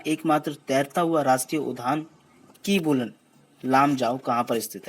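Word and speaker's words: Keibul Lamjao: देखिए कीबुल, ये बहुत मेजर फर्क डाल देते हैं आपकी सवाल को अंडरस्टैंड करने में और प्रोनाउंसिएशन में भी। लाम जाओ, कीबुल लामजाओ।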